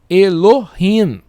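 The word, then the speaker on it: אֱלֹהִים: Então, E, com esse pontinho aqui, com um L aqui, Elo, com I aqui, Elohim. Elohim. É assim que se pronuncia. Mas é bem interessante vocês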